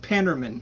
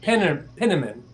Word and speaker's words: Penniman: pronouncing it. Fetterman, Richard Pennerman. Penniman.